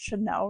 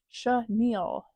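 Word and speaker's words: chenille: last video or one of my videos I pronounced Chanel wrong which is the fabric um it's pronounced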